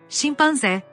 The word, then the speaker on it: chimpanzé: En cambio, la CH en portugués tiene el sonido de la SH del inglés que no existe en español. Chocolate. Chocolate. Chimpancé. Chimpancé. El fonema de la J en español no existe en portugués como tal.